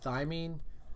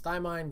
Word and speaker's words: thymine: four types you have thymine guanine or guanine cytosine and a Dineen okay also known as dye mine guanine cytosine and adenine either pronunciation is fine now how the latter